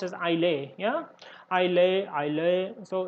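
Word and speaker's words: Islay: so i'll a biscuits has to be is pronounced as i lay yeah i lay i lay so it's a scotland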